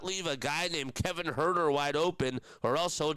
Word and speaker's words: Huerter: You cannot leave a guy named Kevin Herter wide open, or else he'll just hurt you. It's in his name. It's just spelled a little bit differently. It's spelled Huerter.